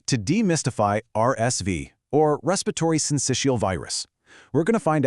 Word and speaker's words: Syncytial: Syncytial, pronounced syncytial.